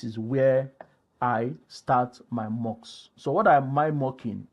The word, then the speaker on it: Moq: So I said, if you are mocking in using NUnit, I'm using a framework called, or a library called mock. It's spelled MOQ.